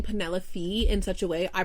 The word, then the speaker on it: Penelope: So I tried Googling it, and they are saying Penelope from Blood and Ash is pronounced Penelope. The E in Penelope is pronounced as a short E, like a pen.